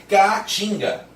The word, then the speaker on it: caatinga: Eu tenho esse C com som de K, o A propriamente, e não tem como juntar esses dois As na mesma sílaba, porque aí fica K-A, K-A, eu tenho que dar uma pausa para continuar falando.